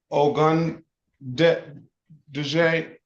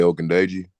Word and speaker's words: Ogundeji: This is the city of Detroit versus Ogun Duje. Give me the correct pronunciation, sir. Ogundeji. Ogundeji. Ogundeji. Yes, sir.